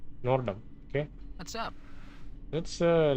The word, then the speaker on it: Nordom: addressed Nom that's that it's not norom nor Dum is fine that's why how he pronounced his name just now nordom okay what's up let's